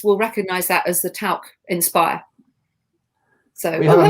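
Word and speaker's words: Tauck: Is it talc or tauk? I would just Tauk. The German way.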